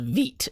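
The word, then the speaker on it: Vite: let's see what we got so we used veet to generate this app it's going to look similar to a cli generated app but it uses this thing called veet to run it instead of the view cli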